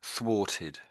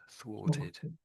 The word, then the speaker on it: thwarted: It's the first one, thwarted, thwarted. Yeah, so it's the TH and then the W.